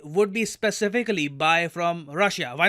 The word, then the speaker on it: Russia: say Rush yeah like normal Indians just say Russia what is this Russia look man here's the thing a country's name should be pronounced correctly the correct way to pronounce it is Russia no one says Russia in the entire world